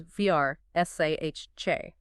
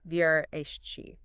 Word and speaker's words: Versace: The preferred pronunciation, and the one that's closer to the native Italian, is Vrsace, not the common anglicized version, Vrsace.